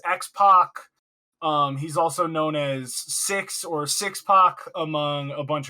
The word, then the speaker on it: Syxx: It's important to point out, Tyler, Six in the name Six and Six-Pac is spelled SYXX. SY.